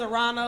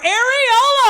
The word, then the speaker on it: Aarona: My name is Aarona, like piranha without the P.